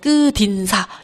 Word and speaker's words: 끝인사: 우리 기억하실지 모르겠지만이 끝 요게 먼저 그 음절 끝소리 규칙이 따라서 끝이 티귿 받침이 디귿으로 변하고 그것이 이제 연음이 되어서 끄딘사 요렇게 발음이 되게 됩니다.